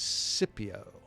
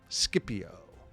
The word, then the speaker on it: Scipio: The young Roman officer at Cana is Publius Cornelius Cipio. Scipio. I've heard it pronounced both ways, but Scipio survives and he watches.